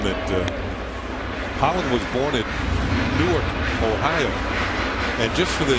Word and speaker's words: Newark: The one in Delaware is actually Newark. That's how they pronounce it. But Newark, New York is a little village about 30 miles southeast of Rochester.